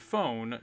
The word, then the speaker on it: phone: Sound f f o the letter E in the word phone does not make a sound it is called a silent letter we will talk more